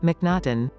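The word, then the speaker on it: M'Naghten: daniel minaden 2.2.3.700 full daniel minaton pronounced and sometimes spelled mcnaughton was a scottish woodturner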